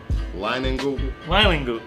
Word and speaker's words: Leinenkugel: Leinenkugel. Great-grandmother. Say that 1,000 times. Leinenkugel. Leinenkugel. It's Kugel. Leinenkugel.